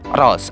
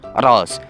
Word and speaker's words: Rolls: nama fiksinya ini adalah Henry Rose atau HR bukan Rohman Rohim ya guys yang bener itu Henry rolls kan sudah membayangkan seberapa